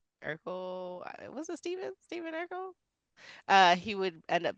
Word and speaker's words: Stephen: following day, in it's which, just your name pronounced differently? well, it's technically not because my name's Okay. Steven.